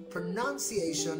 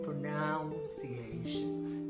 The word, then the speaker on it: pronunciation: you learned something okay pronunciation is the right way for that word to be pronounced okay it's pronunciation is not pronounciation it's pronunciation so i'm waiting for your